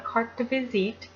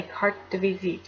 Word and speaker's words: carte de visite: a CDV photograph is it's called a cart to visit now that is a